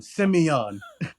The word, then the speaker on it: Simeon: got Simone Simon um it's pronounced exactly how it's spelled like s-i-m-sem e o n on Simeon yet you know what